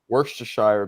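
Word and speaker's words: Worcestershire: How is it pronounced? Worstershire, baby.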